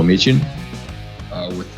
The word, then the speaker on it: Micin: Today's guest is Micin. With the soft ch. Soft ch.